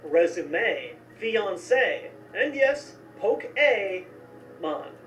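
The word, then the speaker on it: Pokémon: in borrowed words often, like resume, fiancé, and yes, Poke-A-Mon. My favorite way to remember this one? Just imagine Fonzie right in the middle of this word.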